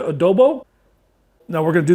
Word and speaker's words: adobo: from hatch and then some goya adobe how you say it baby oh i'm sorry goya adobo now we're going to